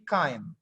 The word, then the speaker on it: kind: about wadkin Ah ini jangan kini dibaca ya tapi kain kalau kalian susah bilang